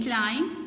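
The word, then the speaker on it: climb: इसी तरह silent B, lame, the lame can क्लाइंब over the hills.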